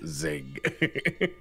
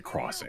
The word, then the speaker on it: Xing: I used to pronounce it as Zing. but it took me a while to realize that it's supposed to say crossing.